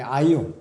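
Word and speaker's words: αἰών: 그러니까이 시대의 그리스도인들을 말하는 거죠.이 이 시대의 그리스도를 말하는 것이 자 여기서 세상으로 저 세상할 때 세상으로 번역된 헬라어 단어는 발음이 아이온이라고 그래. 아이온. 이것은 시대를 의미하는 것이에요.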